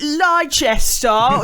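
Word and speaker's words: Leicester: like you idiots you're pronouncing course you say Lester you're pronouncing all the letters that we have written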